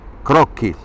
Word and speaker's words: croqui: S'escriu croqui, e si pronuncia crocchi.